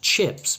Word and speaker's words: chips: Fish and chips both have a short I sound.